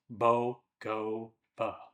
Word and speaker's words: Bogova: There's also Bogova Waterfall, pronounced Bogova, which comes up as a popular nature stop in the region.